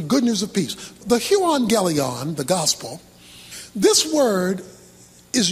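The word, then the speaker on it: εὐαγγέλιον: The Greek word for gospel is the word euangelion. That's how it's pronounced.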